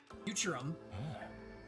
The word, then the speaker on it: Futurum: Futurum? That's the name of this planet. That's how it sounded pronounced in the local tongue anyway.